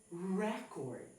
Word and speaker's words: record: So here, the word record in the first sentence is read as record, and it is a noun.